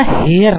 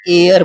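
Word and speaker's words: heir: अच्छा इसको जरा देखिएगा, ये जो होता है ना एक्चुअल में, ये इसको ना हेयर नहीं पढ़ते, एक्चुअल में ये एयर पढ़ते हैं इसको। और इसमें भी एच साइलेंट, और एयर मीन्स होता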